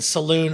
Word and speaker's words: Saloon: assuming M just clarify so blink is actually saying Saloon as an s a l o o n like a saloon in a uh like a bar or Tavern right I just say